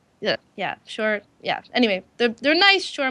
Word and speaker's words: Shure: Yeah, Shure.